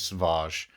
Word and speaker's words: Savage: In the Clone Wars, so if you've not seen the Clone Wars, you might need to check that out, because Sauvage, and that's how it's pronounced, Sauvage Opress, he's a beast.